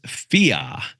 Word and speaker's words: fear: So Australians have this really unique way of pronouncing fear, and it doesn't have an R in it. I don't know how they just remove the R, but it's FIA. It's FE-AH.